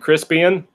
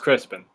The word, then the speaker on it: Crispian: you saw that and Crispian but it is pronounced Crispin Hyman told me so